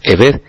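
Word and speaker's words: עבד: Pero espiritualmente siervo y esclavo, que se describen con las letras hebreas, y que la pronunciación es Eved, serían lo mismo ante el Eterno, teniendo en cuenta este significado que estamos comentando.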